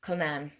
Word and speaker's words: Cullinan: By MJ Cullinan, I think is how you say it. Again, I've said this like a bazillion times, but here in Ireland we say this as Cullinan.